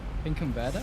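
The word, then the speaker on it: Finkenwerder: W's are pronounced B's in German. So it's Binkenwerder.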